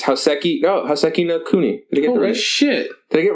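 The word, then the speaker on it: Houseki no Kuni: Next up, I can't pronounce it. It's Hoseki no Kuni.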